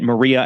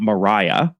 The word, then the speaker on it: Maria: second daughter Maria and I'm pronouncing it Maria and not Mariah because Tom Addison's wife was actually from Spain her name was